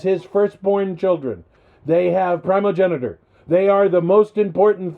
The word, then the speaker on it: primogeniture: Primogeniture.